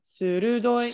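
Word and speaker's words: 鋭い: doi, It's sudoi, su and then ru. Surudoi. surudoi, Hi, surudoi.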